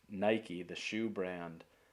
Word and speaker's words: Nike: thought that you pronounced Nike, the shoe brand, Nike, like technically. As it appears it should, rhyme with Mike and like.